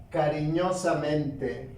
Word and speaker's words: cariñosamente: Tenemos la palabra cariñosamente.